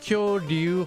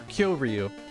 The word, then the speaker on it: Kyoryu: It's Kyoryu. Kyoryu or Kyoryu. Kyoryu is also okay.